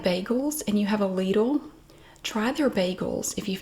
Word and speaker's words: Lidl: lidl near you and it is pronounced lethal in the usa i always have to say that i did confirm that if you like bagels and you have a ladle try their bagels if